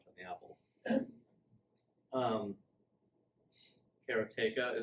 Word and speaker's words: Karateka: the Apple and um Kara tayka is how you say it most people said karateka like I have for 20 years until Jordan Mechner told me no it's carrot a karate but did you guys